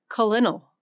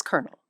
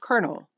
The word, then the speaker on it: colonel: If you said colal, you're wrong. It's kernel. A word spelled with no R, no K, and no second syllable that is somehow pronounced colonel.